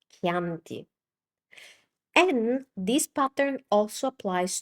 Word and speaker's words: Chianti: Chianti. It's not Chianti, it's Chianti.